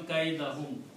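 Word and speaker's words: كَيْدَهُمْ: So the rule is that if a noun is coming after the verb, its last dhamma changes into a fataha. So it will become kaidahum.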